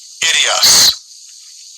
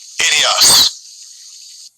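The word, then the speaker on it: ἴδιος: Idios. Idios. Yeah, and that would be the pronunciation in the Greek for this word own.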